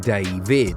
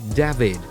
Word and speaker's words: David: In English-speaking countries like England, it's called David, like David Beckham and David James, while in Spanish and Portuguese-speaking nations or regions you hear David, like David Villa and David Luiz.